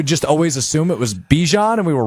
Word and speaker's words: Bijan: And we're just learning it's Bijan Robinson, not Bijan Robinson. Much like Dijon.